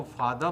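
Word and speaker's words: father: तो दोस्तों, silent letter are से बने शब्दों का जब हम प्रोनाउंसिएशन करते हैं, तो ब्रिटिश इंग्लिश में आर साइलेंट हो जाता है और अमेरिकन इंग्लिश में आर इज नॉट साइलेंट।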